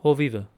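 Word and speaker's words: հովիվը: So this word shepherd alone would be hoviv, but because of the definite article the, when we add the letter it doesn't change the pronunciation.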